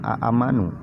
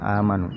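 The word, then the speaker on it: آمنوا: Aslinya dibacanya aamanu, ya, aamanu, bukan amanu, tapi ya ayyuhalladzina aamanu, ya.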